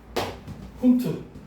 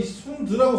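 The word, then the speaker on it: Hund: 훈트. 독일 놈이라서 훈트야. 아이고야, 너 이 훈드라고 썼잖아. 훈트야. 독일식 발음은 훈트야.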